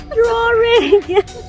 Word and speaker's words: drawing: say it again drawing drawing there's no freaking r in the um after the w drawing drawing i'm yeah